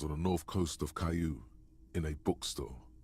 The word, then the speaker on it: Caillou: Oh, that's pronounced Caillou.